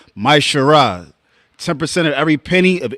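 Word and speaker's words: מעשר: It means a tenth in Hebrew, and it's pronounced Maishara.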